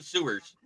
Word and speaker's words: Ewers: It's Quinn Sewers.